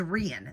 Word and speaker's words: Rein: She said it's like Ian but with an R. So, it's Rian.